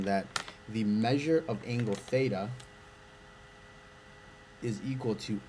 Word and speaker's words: theta: I'll make a note here, This is pronounced theta.